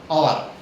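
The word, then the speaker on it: hour: और यहाँ पर एच साइलेंट है, इसका उच्चारण कुछ नहीं आ रहा है, इसका पहला उच्चारण आ आएगा।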